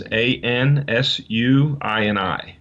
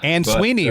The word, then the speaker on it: Ansuini: under, and my last name is Ansuini. And that's an unusual name. Ansuini, right? I learned how to say it. Yeah. Ansuini.